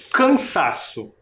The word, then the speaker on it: cansaço: Qual que é a sílaba mais forte de cansaço? Cansaço. Quase não dá para perceber, mas é o sa.